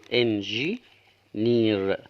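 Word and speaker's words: engineer: الاي ياء بعد كده الايه المفروض تاخد ياء ولكن طبعا سايلنت تكتب ولا تنطج عشان طبعا في حاله وجود حرفين متكررين ينطق الاول والثاني لا ينطق الار هتاخد حرف الراء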